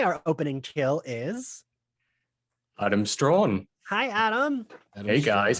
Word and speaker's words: Straughan: Okay, so so my surname's pronounced Straughan.